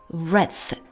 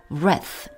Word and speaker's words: wrath: under, 뭐뭐, 아래에서 wrath, 하나님의 진노, W가 묵음입니다. 그래서 그냥 wrath of God, 무성음입니다. 치아 사이로 혀를 내밀고 바람을 내보냅니다. Under the wrath of God, 하나님의 진노 아래에서 죽어서 and spend, 보냅니다.